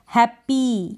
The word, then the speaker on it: happy: Last में हैप्पी, ये pronunciation नहीं होगा, हैप्पी, हैप्पी, यानी कि ई का उच्चारण थोड़ा शॉर्ट होगा, इसमें हम दबाव नहीं देंगे ज़्यादा।